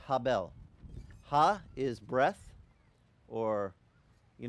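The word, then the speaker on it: הֶבֶל: is, they don't say Abel. Abel is an American translation for you. That's speaking American. But in Hebrew, Abel's name is pronounced Habel.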